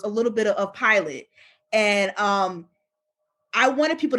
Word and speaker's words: Pilate: Pilate, excuse me.